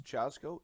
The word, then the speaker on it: Chazgo: I believe it's pronounced Chazgo. Is that correct? Yes, Chazgo.